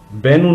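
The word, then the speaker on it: Bennu: तरफ आ रहा है, जबकि इसका नाम बन्नू नहीं बल्कि बेनू था।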